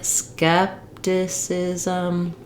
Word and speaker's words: skepticism: So you're going to stretch the first syllable and go quickly on the remaining syllables. That sounds like skepticism.